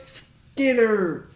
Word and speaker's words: Skynyrd: right here then the Skinner Freebird I don't know what it is the nerve Skinner that's how you pronounce it it's right here man